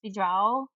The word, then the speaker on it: bidrag: Like, she pronounces it like, so I guess it'd be pronounced bidrag. It's D-R-A-G. The A is making the ow.